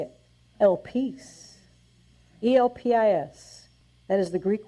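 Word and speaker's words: ἐλπίς: It is pronounced elpis. Let's say it. Elpis.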